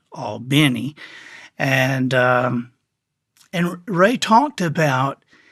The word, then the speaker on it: Albany: I remember talking to him, and Ray is from Albany, Georgia, which they pronounce it Albany, and Ray talked about how he was the best growing up, all through those leagues and all.